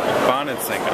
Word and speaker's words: Bonansinga: Bonansinga. It's kind of pronounced just like it's spelled, but it's a lot of letters.